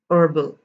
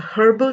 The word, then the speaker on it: herbal: this as honest air herbal it is not a herbal tea it is herbal tea so now let